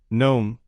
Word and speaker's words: gnome: 6 Gnome. The G is silent.